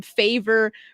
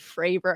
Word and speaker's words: Fravor: his last name wrong calling him favor Frey higher Fair instead of fraver and I'm like this